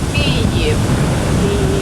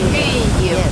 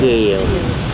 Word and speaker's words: Kyiv: But in Ukraine, we pronounce the word Kyiv. Kyiv, yes. Kiev.